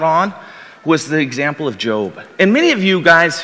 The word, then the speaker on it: Job: know the story of Job. You thought that maybe the book was called Job as you looked through the table of contents, but it actually is pronounced Job.